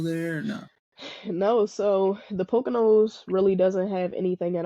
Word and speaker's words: Pocono: you say you're in Pono is that how you say it Pocono Pocono the PO I work at my